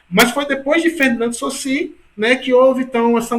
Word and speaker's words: Saussure: Se escreve Saussure, né? Mas é Saussure. Muita gente chama Saussure, mas repita, é Saussure, certo?